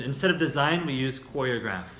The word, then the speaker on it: choreograph: Number two is choreograph. That's a verb. The noun is choreography, kind of like photograph and photography. The pronunciation completely changes. So this is to choreograph.